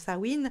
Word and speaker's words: Samhain: Et nous avons la sorcière de Samhain, et bon, ça s'écrit sa main, mais ça se prononce Samhain, et c'est une carte qui nous aide à